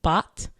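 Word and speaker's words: baht: the time and currency is I believe pronounced bot bah T uh when I typed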